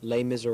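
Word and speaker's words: Les Mis: final preparations for opening night of the correct pronunciation is L Miser Rob call it what you want this is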